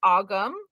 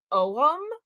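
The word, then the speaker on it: Ogham: is where we get you'll hear it americanized pronounced ogum a lot i know it's technically owem so you'll hear it pronounced both ways but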